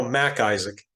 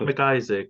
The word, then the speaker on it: Mac Isaac: It's just the pause. I think there's like a subtle pause. Yeah, it's not McIsaac, it's Mac Isaac.